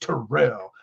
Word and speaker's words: Terrell: for his promo was and it's pronounced terrell like it was a whole thing it was funny um